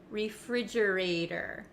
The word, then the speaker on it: refrigerator: refrigerator now the ater the T at the end of this word it becomes a flap T in American English that means it kind of sounds like a soft D sound refrigerator refrigerator refrigerator it's the